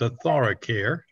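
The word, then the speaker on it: AuthoraCare: Arthoracare, I can never pronounce that correctly. Mm-hmm. And you did it, it's Arthoracare.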